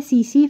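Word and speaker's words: tsetse: question में आया था तो इसका नाम है सीसी फ्लाइज तो टी यहां पर साइलेंट होता है तो सीसी फ्लाइज की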